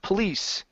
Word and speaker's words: police: good uh right here instead of police the add is on the end police police officers police officers okay good